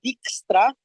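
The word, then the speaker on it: Dijkstra: un nombre un poco complicado es el algoritmo dextra se escribe así d i j k s r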